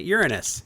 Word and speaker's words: Uranus: and I was desperately not going to pronounce it Uranus. so that I did not have to deal with the very pure alile joke that you're making right now. So I'm like, yeah. And then this is the other planet, Uranus, which is, you know, the other legit pronunciation, right?